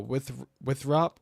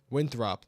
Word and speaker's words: Winthrop: That's going moving up to the north and east towards like Foreman and uh Withrop or Withrop or Winthrop. It's how you say it.